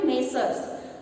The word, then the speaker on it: Messrs.: Okay, ಉಚ್ಚಾರ ಆಗಬೇಕಾದ್ರೆ ಹೆಂಗಾಗ್ತದೆ ನೋಡ್ರಿ, Messrs.